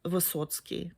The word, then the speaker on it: Wysocki: Wysocki, I think you pronounce it. In my culture, that would be Vysotsky. And I know that Charles has Polish heritage, so that probably how they would pronounce in his original language. But I know in America they say Wysocki, which actually means high or tall in many, Slavic languages.